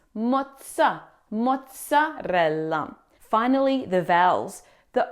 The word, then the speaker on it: mozzarella: It's not a soft z sound like in zebra. It's a strong t sound like the th in cats. Moza mozzarella.